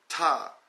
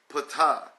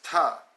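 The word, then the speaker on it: Ptah: waters of none rolls top or some will say pitaya but you know the P is silent like you know pneumonia you know we don't say cut pneumonia it's top top from top roles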